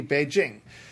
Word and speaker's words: Beijing: Okay, so then they'll look at the capital of China and they'll say, oh, that's Beijing. Well, it is not. It's Beijing, which in English pronunciation would be Beijing.